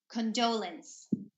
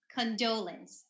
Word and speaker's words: condolence: and then this one we say condolence condolence okay not condolence okay that's the common Filipino pronunciation but it's condolence and